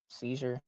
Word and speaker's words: Cyzure: spelled with a C and a Y, ZURE. CYZUR, like Seizure, CYZURE.